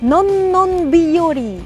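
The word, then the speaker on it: のんのんびより: En réalité, combien de syllabes y a-t-il? Non, non, biyori. 7. Ne pas contracter en 4.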